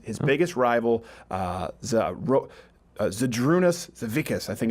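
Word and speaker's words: Žydrūnas Savickas: anyone else against his biggest rival wrote the Droon Asst Savickas I think it's how it's pronounced and poor for the torch was passed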